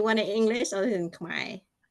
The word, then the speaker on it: Keo: First name is Ka K EO.